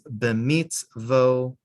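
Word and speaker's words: במצוותיו: You can have mitzvotai, but when you add the vav, something weird happens. The yud disappears and it becomes b'mitzvotav. You don't pronounce the yud at all.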